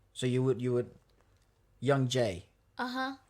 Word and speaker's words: YoungJae: So you would YoungJae. Uh-huh. Right. Remember, because it's 2 syllables in Korean.